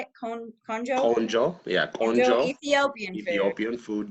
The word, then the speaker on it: Konjo: Konjo, yeah, Konjo Konjo.